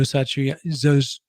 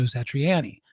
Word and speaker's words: Satriani: It's not Joe Satriani, like I always thought. He calls himself Joe Satriani because he's East Coast as well.